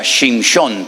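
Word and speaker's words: שמשון: En hebreo se pronuncia shinón porque viene de la palabra sheme, que significa el sol.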